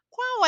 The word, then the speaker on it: qual: vai perguntar essa frase Qual é o seu nome atenção às pronúncias marcadas em quando uma palavra termina em l a pronúncia é u então a pronúncia é qual não se escreve assim